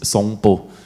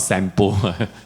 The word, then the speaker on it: Sompo: It's Sompo. I don't know whether it's not Sampo.